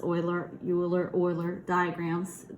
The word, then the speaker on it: Euler: to leave that into um logic and some euler you say it euler that's pronounced euler euler euler diagrams it's from unity everyone have